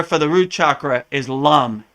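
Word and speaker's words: लं: honest with you so it looks like M but it's really Lum so the Bea mantra for the root chakra is Lum l m Lum and when you vibrate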